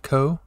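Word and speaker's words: こ: We have ko.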